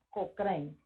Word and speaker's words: Cochrane: Se llama Cochrane. Se escribe C-O-C-H-O-E-N-E.